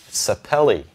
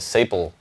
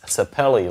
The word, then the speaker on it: sapele: you guys and actually found out how to say it sapele i was calling it staple for for years it's the kind of wood the back and sides are made of it's laminated but it's sapele like belly and basically